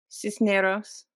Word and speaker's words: Cisneros: Cisneros.